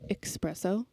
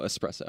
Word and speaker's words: espresso: the coffee flavors yeah you say expresso yeah ex expresso no espresso okay good yeah okay good i'm